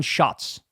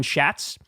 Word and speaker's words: Schatz: until Crystal told me, it's pronounced Brian Schatz. And I have to say, Brian, good move, sir, because I always thought your name was Brian Schatz, and that is a very, very unfortunate name.